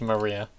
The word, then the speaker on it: Maria: It's pronounced Maria.